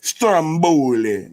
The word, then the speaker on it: Stromboli: it like you gotta see it like the Italians kidding you ain't saying it right Stromboli you know put some